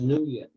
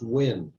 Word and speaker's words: Nguyen: I always thought it was pronounced Nguyen. And that's just the way it's been for 75 years. I learned a couple of months ago it's pronounced Win.